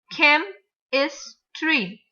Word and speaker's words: chemistry: In the same way, chemistry. 3 syllables. Chemistry. So we have to stress on the first syllable.